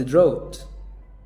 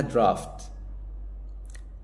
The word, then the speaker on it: draught: طب الكلمة التانية دي انطقها كده، قلت دروت. دروت. لا، اسمها درافت. درافت. ولو امريكان تبقى درافت.